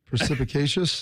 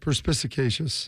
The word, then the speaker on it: perspicacious: Precipitacious. Precipitacious. They said Harrison at the end of this article, Harrison didn't know what prec precipitacious means. This I Yeah, it's tough. That's a tough word. Perspicacious.